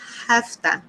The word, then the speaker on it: have to: heared a sound okay instead of saying I have two we're going to say hafta it does pronunciation half that example I have to